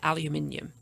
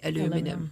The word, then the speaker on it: aluminium: So in England, we say aluminium. Here you say aluminum.